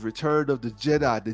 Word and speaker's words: Djed: pillar and it's interesting how they spelled the Jed pill like Jed it's spelled d j e d Jed and you'll see you'll